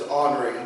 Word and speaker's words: Henri: heard me say before, the proper pronunciation of his name is Henri, but I'm just not good with that. Henry comes out much quicker, and he was known to go by both.